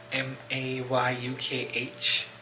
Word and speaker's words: Mayukh: My name is Mayukh, Mayukh. It is pronounced and remembered as my ukulele, Mayukh.